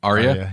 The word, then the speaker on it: Arya: I always get her name wrong. Arya? Arya, yeah.